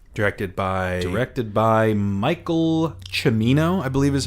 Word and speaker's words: Cimino: movie made 1978 directed by erected by Michael Cimino I believe is how it's pronounced yes see I am Ino Stars De